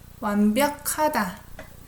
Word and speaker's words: 완벽하다: 완벽하다. I pronounce it as K. 완벽하다. G and H together.